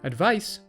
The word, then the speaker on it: advice: Advice is the noun. She followed her doctor's advice and took a vacation. The ice at the end of advice reminds you how it should be pronounced.